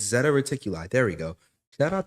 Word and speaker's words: Zeta Reticuli: It's Zeta Reticuli.